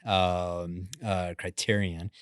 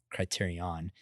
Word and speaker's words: Criterion: Yeah, so I'm excited to hear about y'all's company, Criterion, not Criterion, as I previously mispronounced it.